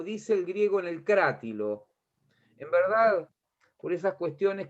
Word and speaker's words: Crátilo: las cosas como dice el griego en el crá tilo es verdad por esas cuestiones que tienen la restitución de la de la pronunciación de las lenguas muertas en la época